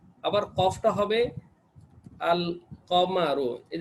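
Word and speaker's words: القمر: আবার কফটা হবে আল কমারু, এই যে কফটা হবে কামারিয়া হরফ, এটার আগে আলিফ লাম আসলে লামের উচ্চারণ হবে, এটার আগে আলিফ লাম আসলে লামের উচ্চারণ, আল কামারু।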